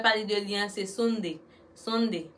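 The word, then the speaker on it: sundae: Sonde. Il est sonde, S-U-N-D-A-E. Lié, mais nous prononcer comme sonde.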